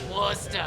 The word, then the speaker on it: Worcester: Right, you gotta drop the R. Worcester.